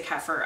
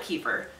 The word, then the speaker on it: kefir: it's called kefir this you're supposed to say kefir I always call it keeper and I'm sorry so I will say it's